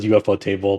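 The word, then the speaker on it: ufotable: how you pronounce them I I pronounce as UFO table but I guess people see you repostable as well they're most notable for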